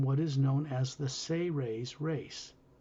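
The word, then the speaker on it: Seres: is known as the say ray's race it's spelled s-e-r-e-s in english but it's pronounced as if it was spelled s-a-y hyphen r-a-y-s say rays they are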